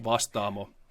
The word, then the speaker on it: Vastaamo: It's pronounced Vastaamo.